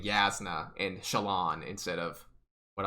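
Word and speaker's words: Jasnah: shaolin the whole time i was also calling yasna jasna the whole time because it's spelled j-a-s-n-a-h and i know like in hebrew the j makes the y sound well apparently in a lefty that's how it works too so i was saying the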